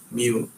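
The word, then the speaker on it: μ: We pronounce it as mu.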